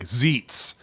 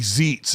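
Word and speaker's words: Xeets: to call it like zeets like x-e-e-t-s or I think it would be zeets is how I would pronounce it if you have an x x is in xylophone or something or at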